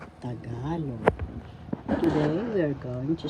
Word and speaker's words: Tagalog: ka third syllable log the the accent is in the second syllable tagalog tagalog today we are going